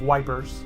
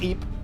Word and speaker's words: Ypres: kind of major battle, like the Battle of Ypres, which is YPERS. Okay. The British soldiers called it the Battle of Wipers. Wipers. They didn't know how to pronounce the shit. Okay. But it's pronounced Ypres.